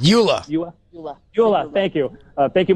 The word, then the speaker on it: EULA: EULA.